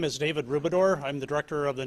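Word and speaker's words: Rubedor: you director morning everybody my name is david rubidor i'm the director of the neighborhood and community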